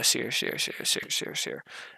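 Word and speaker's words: Ausar: Sear Thompson. Asir? Okay, I gotta remember that. Asir.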